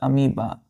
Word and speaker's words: amoeba: यहाँ पे ओ जो है बच्चों, ओ साइलेंट हो जाता है, ओ क्या होता है, साइलेंट, तो इसको हम डायरेक्टली पढ़ते हैं अमीबा।